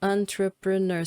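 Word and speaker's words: entrepreneur: Então você precisa falar Então são andraperner são quatro sílabas que existem aí e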